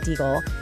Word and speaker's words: Deagle: Clifford Deagle, and just so you know, that's pronounced deagle, and Dr.